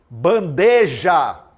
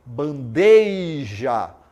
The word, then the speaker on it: bandeja: pronunciar as palavras né falamos alguma algumas palavras bandeija não bandeja você vai falar bandeija você fala bandeja você está é em